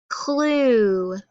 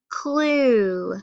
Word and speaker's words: clue: UE is a digraph because we hear that U, but we don't hear the E. So let's think about how we're going to code those words since it's a digraph. So we underline it because it goes together. It's a long U sound, and then we have to make that E silent.